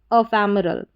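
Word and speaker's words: ephemeral: यहाँ पर बीच में ME दे रखा है तो इसको मी नहीं पढ़ेंगे, यहाँ पर म करके इसका उच्चारण होगा, अफैमरल।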